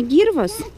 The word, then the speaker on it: Гирвас: сами понимаете, не русские, то привычнее все-таки и правильнее ставить ударение на первый слог. То есть кижи, кивач и вот как вариант, значит, гирвас, в который мы едем.